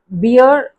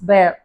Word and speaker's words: bear: இட்ஸ் நாட் பியர், இட்ஸ் பேர். எப்படி நம்ம வேர், ஒரு ட்ரெஸ் நம்ம வேர் பண்ணுறோம் அப்படின்னா வேர். சேர், கிழிக்கிறது, சேர். ஸோ இது எல்லாமே வந்து ஏர், வேர், சேர், பேர், அந்த மாதிரி ப்ரொனவுன்ஸ் பண்ணோம்.